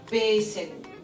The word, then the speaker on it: pêssego: A gente vai para a palavra pêssego, né? O acento circunflexo, ele é um som mais fechado, né?